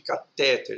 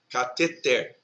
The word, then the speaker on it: cateter: É o caso de catéter, é errado, o correto é cateter, Gibraltar, ureter, tá?